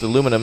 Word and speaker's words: aluminum: Aluminum, as we say in the U.S.